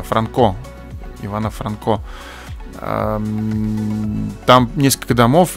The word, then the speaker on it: Франко: по улице ивана франко я кстати ударение da franco сказал пять неправильно франко ивана франко там несколько